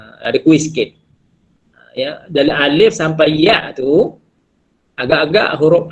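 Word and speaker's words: ألف: Maknanya cara sebutannya alif. Okey, ada bunyi angin sikit kat belakang.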